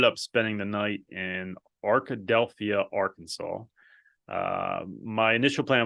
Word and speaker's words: Arkadelphia: found a decent um Hampton Inn in Arkadelphia Arkadelphia yeah that's how you say it and I